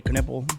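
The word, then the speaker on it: Knueppel: I say it the right way, Knuppel.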